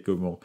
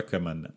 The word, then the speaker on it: Coman: pas si on m'appelle comman ou comment je m'en fous mais son vrai nom c'est comment donc voilà pour savoir